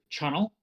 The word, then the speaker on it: Chunnel: I'm going to say his name is uh Chunnel like funnel but Chunnel just so we have